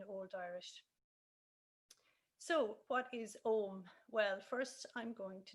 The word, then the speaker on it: Ogham: heard it pronounced as aarom which is actually the old irish pronunciation so that's the difference